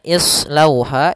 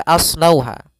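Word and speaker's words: اصلوها: Pada bacaan islauha ini jangan dibaca aslauha karena ini berkaitan dengan kalau kita belajar itu rumusnya itu adalah huruf ketiganya. Kalau di sini huruf ketiganya berharakat fathah, maka huruf alifnya atau di sini hamzahnya kita namakan dengan hamzatul wasal itu baris bawah maka islauha.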